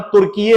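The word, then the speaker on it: Türkiye: हालांकि अब टर्की का नाम तुर्कीये हो गया है, उन्होंने अपने नाम का प्रोनाउंसिएशन चेंज किया है, and that is नॉट टर्की नाउ, इट इज तुर्कीये।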